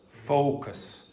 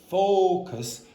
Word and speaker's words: focus: factors, include the depth Including of the focus, focus. If you don't open your mouth, and you have this problem, if you don't say focus, you'll say focus. It starts to sound like focus.